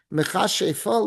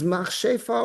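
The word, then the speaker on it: מכשפה: Is machshefa, or that's how everyone says it in Yiddish, machshefa, but the actual correct Hebrew pronunciation is mechashefa, because remember, kishuf means like sorcery.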